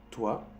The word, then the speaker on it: toi: Cuando tú ves un O y un I juntos, hacen el sonido wa. Wa. Como aquí te escribí, O-A. Wa. O-A. Wa. Por ejemplo, toi.